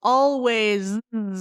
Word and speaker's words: always: sound like s but in English most of the final s's are actually Z sounds right so let's go over these ones eyes hands always tell me those three